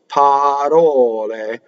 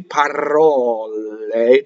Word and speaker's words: parole: So it's single R and single L. So other mistakes you can make in this word is to roll the R, actually, parole, and double the L. See, those are both mistakes. What you want to be is parole. So single L and flipped R.